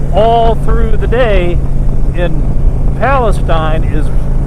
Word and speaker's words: Palestine: Texas for four years I've called this place Palestine but got some local information on this trip and the locals tell me the correct pronunciation is Palestine had a great time on this trip this